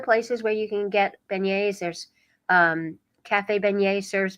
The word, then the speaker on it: beignet: if somebody wants a vignette for breakfast or a PoBoy for lunch where can they find it Well that's pronounced beignet thank you and you